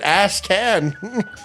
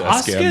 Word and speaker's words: Ascan: Why did you pronounce it Asshan? It's It's Asan, man.